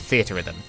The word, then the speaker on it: Theatrhythm: funny little game called theater Rhythm people rather liked it and yes while we're at it that is how you're supposed to pronounce it it's a portmanteau a theater in Rhythm that's why the menus